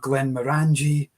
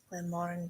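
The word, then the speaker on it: Glenmorangie: in the glass tonight not Glenn manangi Glenn Mori Glen Mori yes that must be one there with one of the most mispronounced ones I'd imagine yeah but I think they like the fact that folk mispronounce it because on their label they they kind of have the broken down syllables don't they it's Glenn Mor rang G um and I think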